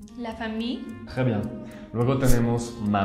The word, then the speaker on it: famille: De hecho, no se pronuncia casi como las dos L al final. Es como si hubiera una I larga. La famille. La famille.